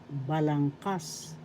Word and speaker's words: balangkas: about conjugation in Tagalog balangkas balangkas syllable second syllable syllabangas the third syllable has the accent and going to pronounce